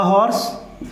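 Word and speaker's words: horse: पे लिखते हैं आर, बहुत बड़ा एग्जाम्पल है प्रोनाउंसिएशन वाला। तो यहाँ पर क्या भरा जाएगा, अ हॉर्स, यहाँ पर क्या भरा जाएगा, एन आर, क्योंकि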